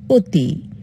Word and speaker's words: অতি: অ এর স্বাভাবিক উচ্চারণ আর অ এর সংবৃত উচ্চারণ হচ্ছে ও এর মত দেখো লিখেছে কি অতি উচ্চারণ কি করব অতি লিখেছি নদী উচ্চারণ কি